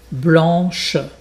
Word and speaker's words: Blanche: Blanche, il faut bien prononcer le ch.